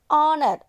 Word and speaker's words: honor: Honor. That means here H consonant sound is silent.